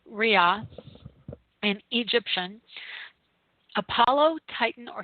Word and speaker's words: Ra: word for the Sun Rhea which is RA and I've always pronounced it rob is actually ria in egyptian Apollo Titan